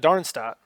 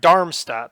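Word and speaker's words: Darmstadt: distinctly different from that darn Stat or sorry darm stat that's an M that is a terrible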